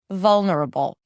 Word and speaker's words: vulnerable: It's a little higher in pitch than the rest of the syllables that are soft, lower in pitch, and shorter. Vulnerable.